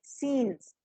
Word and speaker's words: scenes: Remember, Sylvia, that the word that you pronounce signs is scenes.